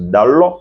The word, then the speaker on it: Dalot: Donc Diego Dalot, comme disait le commentateur, ça s'écrit Dalot, mais on prononce Dalot comme un O ouvert.